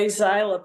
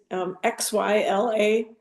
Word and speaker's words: Xyla: It's the same designer, and it's XYLA, Xyla, that's how I pronounce it. Isla.